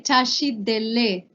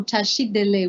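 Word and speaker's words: བཀྲ་ཤིས་བདེ་ལེགས: Or like when you say tashit dele, right? Our greeting that you guys already know, tashit dele. We will see the spelling of it in a minute, but it is spelled with a ka, la dembule ka, and it's not lek.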